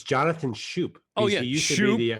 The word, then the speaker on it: Schoop: either Oh actually yeah I do it's Jonathan Schoop oh yeah you sure yeah there it is